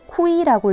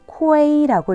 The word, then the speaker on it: kui: 내 이름에 KUI가 있다. 이 친구는 본인의 이름을 쿠이라고 읽으면 안 되고 쿠에이를 넣어서 코에이라고 읽어줘야 되는 거예요.